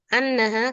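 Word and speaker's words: أنّ: Contohnya di contoh yang pertama, sami'tu annaha, karena ini fi'ilnya bukan qala tapi sami'a, mendengar. Sami'tu annaha. Berarti setelah itu kita bacanya anna, bukan sami'tu innaha, bukan.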